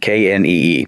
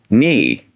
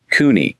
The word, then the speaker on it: knee: There's a K at the front, K-N-E-E. But when you say it, I just hear knee. Do I say the K? Like Cooney? Ah, that's a great question. And no, you don't. That K is silent.